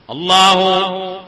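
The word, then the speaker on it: الله: ഈ രണ്ടെണ്ണത്തിന്റെയും ഉച്ചാരണം പോലും അല്ല ശരിക്ക് അല്ലാഹ് എന്ന ഉച്ചാരണത്തിന്.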